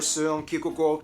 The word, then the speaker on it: Søren Kierkegaard: notable figures like author Hans Christian Andersen, philosopher Søren Kierkegaard, or whether How do you pronounce his name? That's actually how you pronounce his name. Wow. Søren Kierkegaard.